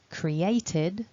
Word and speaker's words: created: front of it so our e d ending is not pronounced ed it's id so that last syllable